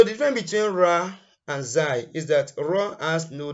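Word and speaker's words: زاي: Some people call it Zain, but the right pronunciation is Zai.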